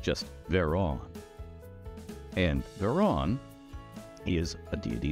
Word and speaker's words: Vhaeraun: VHAERAUN. Usually pronounced just VHAERAUN.